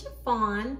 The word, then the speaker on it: Sha-Phawn: My name is Sha-Phawn, pronounced like the material, and welcome to my channel.